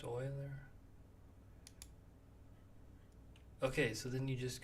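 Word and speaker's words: Euler: that's nice adapted from Project Oiler I think it's pronounced Oiler okay so then you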